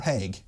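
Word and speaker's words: Haigh: good explanation is it he or heg I've always said heg everyone says heg apart from me but I just wonder where the G bit is as was h a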